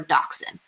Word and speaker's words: dachshund: with wiener dogs or dachshund the way it's spelled looks like it's - hound but that's because it's a German word and things get kind of switched around between languages so those little guys